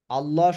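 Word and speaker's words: الله: আল্লাহ আল্লাহ শব্দের লামের পূর্বে যদি জবর অথবা পেশ থাকে তাহলে আল্লাহ শব্দের লামকে মোটা করে পড়তে হয়।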